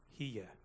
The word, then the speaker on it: here: The other thing I really loved was making 2 syllables out of the word H-E-R-E. Hia.